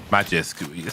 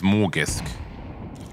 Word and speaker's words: Magisk: Listen, you what what was that ridiculous pronunciation you told me about magisk saying it was Morgisk?